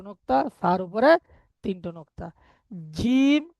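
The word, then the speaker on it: جيم: জিম, জিবের মাঝখান উপরের তালুর সাথে লাগাবেন।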